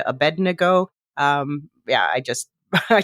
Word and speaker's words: Abednego: Shadrach mesak and Abednego it's Abednego Abednego okay anyway thrown into the furnace by Nebuchadnezzar you have to say that word fast or or you're going to mispronounce it that you know